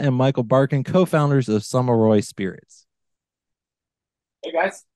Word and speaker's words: Sommarøy: And we're talking with James Cosma and Michael Barkin, co-founders of Sommarøy Spirits.